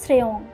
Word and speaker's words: শ্রী: শ্রী উচ্চারণ হবে শ্রেয়ং, নম উচ্চারণ হবে নমঃ।